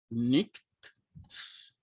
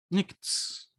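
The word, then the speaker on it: νύξ: Então, qual é o encontro aqui que eu tenho? Nicts. Nicts. E a própria pronúncia, quando eu tento falar nicts, já me dá a orientação por onde eu devo seguir.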